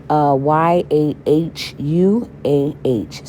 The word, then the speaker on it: Yahuah: It is not fair knowing Yahuah. Some people pronounce it Yahuwah, and some people pronounce it Yahuwah. It is not Yahweh.